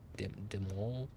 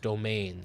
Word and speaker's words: demesne: Demol? I'm imagining that means, like, accommodation, you know, like their section, pronounced domain.